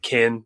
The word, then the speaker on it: ken: use that terminology again I think it's k-e-n it's pronounced like kin but it's like Ken like the Kendall from Barbie and usually if I explain